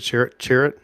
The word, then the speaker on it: Chirrut: Is that how you pronounce it? Chirrut? Yep. Chirrut, yeah.